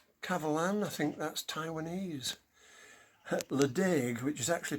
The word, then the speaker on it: Ledaig: Ledaig, which is actually pronounced Lechik, beautiful whiskey.